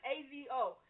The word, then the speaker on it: Azo: So I looked at this AZO, and I was like, all right, how I pronounce this joint, right? It's Azo. Yeah, it's Azo, my homie Azo.